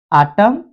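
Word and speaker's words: autumn: am silent हो जाएगा एन ये उल्टा है यहां पर यदि लास्ट में यह चला जाता है तो हम यहां पर एन को साइलेंट कर देंगे आटम और कॉलम यहां पर यदि य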